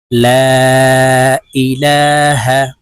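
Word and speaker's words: لا إله: বলি বলে দিচ্ছি দেখুন লাম আলিফ জবর লা মদের হরফের উপরে চিকন চিহ্ন বামে হামজা মধ্যে মুনফাসিল তিন আলিফটা নিয়ে পড়িতে হয় তাই আমরা এই লামকে তিন আলিফ টেনে বলবো লাম আলিফ জবর লা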